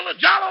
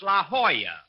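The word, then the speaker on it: La Jolla: I'm over here at the Ljala Auto Court. Rochester. I found out that's pronounced La Hoya. It turned out to be a Spanish word.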